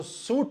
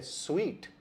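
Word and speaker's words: suite: अगर आपने इसको सूट कहा तो ये गलत उच्चारण है। इसका सही उच्चारण है स्वीट, कि हम होटल में एक बड़ा स्वीट बुक करवाकर रहेंगे।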